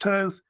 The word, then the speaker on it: Thoth: And then Thoth, sometimes pronounced Toth, was, of course, the